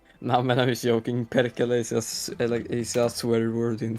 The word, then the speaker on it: Perkele: Pericula. Pericula. So that does it pronounce Pericula? No, it's pronounced Perkele. Perkele. Pedicula. Perkele. Like that? Yeah, it's Perkele. hard to. It's like an Perkele. sound, like Perkele.